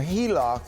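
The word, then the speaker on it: HELOC: A heliloc is the pronunciation of an acronym H E L O C which basically stands for home equity line of credit.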